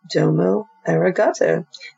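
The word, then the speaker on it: どうもありがとう: Oops, I meant Domo Eraato. Pronounce it Domo. Domo Eraato.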